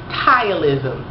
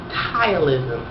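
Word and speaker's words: ptyalism: the condition is called tilism and it's spelled p which is silent t y t o oh no sorry PT y a l i s n tilism it's just a condition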